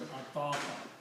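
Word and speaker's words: أطاق: So this becomes ataqa. Waw is written as an alif, is pronounced as alif.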